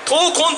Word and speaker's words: 陶魂: タイトルは陶器の魂と書いて陶魂と言います。